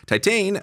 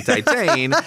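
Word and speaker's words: Titane: raw goes to see titan i think they're gonna barf again because raw is a conventional film compared to titan i think yeah i think that's how you say it in french teton um because yeah like that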